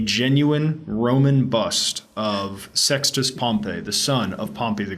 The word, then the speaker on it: Pompey: The Latin is like Pompeius, I said but in Pompey, English it and just then turns into he said Pompey. Pompey.